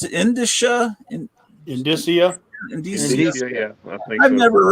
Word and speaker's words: indicia: Indicia, but I think I was pronouncing indica or something.